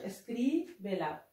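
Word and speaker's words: escríbela: النطق هكذا يكون النطق اسكريبلا.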